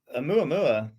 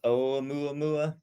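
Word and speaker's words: ʻOumuamua: Yeah, so Oumuamua, I believe it's actually pronounced Oumuamua.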